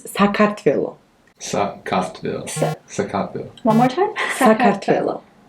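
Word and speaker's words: Sakartvelo: like that yeah but in georgia our name is pronounced like differently okay like very differently so our country's name is sakatville one more time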